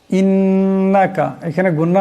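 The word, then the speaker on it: إنك: করবেন উচ্চারণটা শুদ্ধ হবে ইন্নাকা এখানে গুন্না হবে নুন মুসাদ্দাদ আছে ইন্নাকা এখানে গুন্না করতে হবে হামজার নিচে দুই জের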